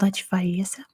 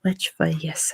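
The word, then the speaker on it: Lech Wałęsa: If I remember how to pronounce his name, it was Lech Walesa.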